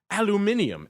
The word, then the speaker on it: aluminium: the shiny stuff we're going to aluminium as the Brits say 16 a half is